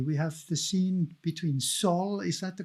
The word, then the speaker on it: Saul: We have the scene between Saul, is that the correct pronunciation?